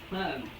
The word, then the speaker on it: Korah: Korah, I hope I'm pronouncing that name right. It's Korah.